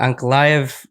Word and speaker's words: Ankalaev: Yeah, Ankalaev, yeah.